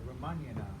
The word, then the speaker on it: Ramayana: to talk about is the ramayana or romanian as people pronounce it who may actually know how to speak other languages um it's the story